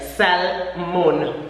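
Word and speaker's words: salmón: we know already salmon the only difference is the pronunciation in Spanish you will say the L cell mon salmon we emit that sound in English the early English salmon okay salmon last night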